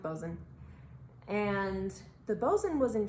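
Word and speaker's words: boatswain: Now, one of the most important positions on a ship was the Bozen, and it's spelled a little funny. It's not phonetic, but it's pronounced Bozen.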